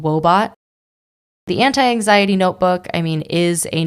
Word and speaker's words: Woebot: Wobot is an app, and Wobot is spelled W-O-E, like sadness, and then bot, B-O-T, like robot. Wobot is this super adorable